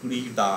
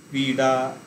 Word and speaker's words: ক্রীড়া: যেমন এখানে এক্সাম্পলটা ক্রীড়া দেয়া হয়েছে, ডয়ে শোনানো হচ্ছে অ্যাকচুয়ালি সংস্কৃতের ডটাকেই আমরা বাংলায় র উচ্চারণ করি, মানে সংস্কৃত উচ্চারণ একটু ক্রীড়া হবে, ক্রীড়া, আষাঢ় এরকম উচ্চারণ হবে। সেটা আমরা র এর মতন উচ্চারণ করবো, নিচে একটা বিন্দু দিই।